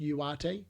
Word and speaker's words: Ugarte: I think his name is actually pronounced Ugarte. Apparently, from what I've done some research, it's a silent G. But if you don't have any idea like I do, apparently it's okay to go Ugarte. Just a little piece of